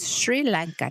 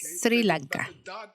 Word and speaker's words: Sri Lanka: pronunciado para siempre, y este país cuyo nombre está mal pronunciado para siempre es Sri Lanka, no es Sri Lanka.